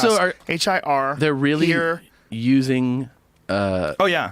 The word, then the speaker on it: hir: Here, here's, here, here. How about here? Pronunciation. HIR is here. It's not even her.